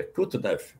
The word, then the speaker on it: Kutuzov: Quando Napoleão Bonaparte invade a Rússia, o general Mikhail Kutuzov, você depois dá uma olhada aí para conferir esse sobrenome, é Kutuzov mesmo, se escreve Kutuzov.